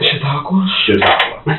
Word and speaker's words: Chautauqua: that, maybe you can help me with the pronunciation. Chautauqua.